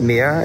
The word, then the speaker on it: Meir: We think it's pronounced Meir. It's like M-E-I-R.